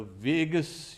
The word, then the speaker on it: vagus: Now, a monk was saying, okay, I only hope that we don't have the vagus, you can say, nerve. You know, Vegas, Las Vegas also is pronounced Vegas.